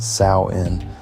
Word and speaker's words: Samhain: big festival called Samhain, and that's pronounced Samhain. Don't mess that up now.